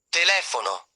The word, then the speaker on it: telefono: Some words have stress on the third-to-last syllable. Examples: telefono, t e l e f o n o, telephone sabato, s a b i a t o, Saturday Tre, final syllable stress.